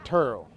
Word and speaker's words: Terrell: Terrell, Texas. That's where I'm from. 28 miles east of Dallas, if you're checking. Some people spell it with an E. I say it with a U. Terrell.